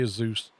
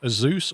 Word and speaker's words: Asus: If you ask them officially, they'll say Azus. Or Asus is also common. Asus or Asus is the common pronunciation that they prefer.